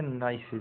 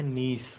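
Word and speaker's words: niece: यह 70 नाइसेज भतीजी हम क्या पढ़ते नाइस सिर जी है लेकिन एक्चुअल जो उच्चारण कहते हैं जिसे जो उसका उच्चारण है इंग्लिश में उसका क्या है नीस उसमें लिखा आएगा नीस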